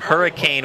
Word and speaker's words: Hurricane: The pass intended for Cam Cooper, the senior, 5'11", 195-pounder from Hurricane, West Virginia. It's pronounced hurricane.